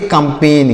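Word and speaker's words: campaign: COMPAGIN, तो यहाँ पर जी साइलेंट है, इसे पढ़ेंगे कंपेन।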